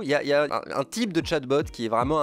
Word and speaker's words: chatbot: allez forcément déçu par cette vidéo ça se prononce chat bottes robot de robots de chat en bo2 robots